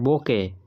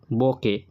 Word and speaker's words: bouquet: এটা বোকে, শেষে ট উচ্চারণ হয় না, BOUQUET, বোকে।